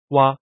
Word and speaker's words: 窊: 蛙，蹑蛙，形容词，意思是形容卷缩的样子。